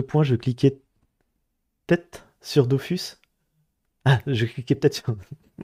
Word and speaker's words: Dofus: En Kamel, ils disent que ça se prononce Dofus.